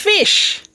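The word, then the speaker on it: ghoti: Finally, he told us it's pronounced fish. How the gh he said was pronounced like F, like the gh in tough.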